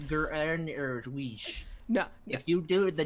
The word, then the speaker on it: Greenwich: Actually, guys, it's pronounced Greenwich. No, If you do the Dutch, it'd be Greenwich.